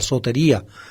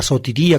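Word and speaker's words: σωτηρία: Para Pablo la salvación, la sotería, la sotiría, como se pronuncia en griego moderno, es futura.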